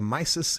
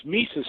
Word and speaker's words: Mises: be on your show it's misus Institute actually it's spelled msis but it's uh it's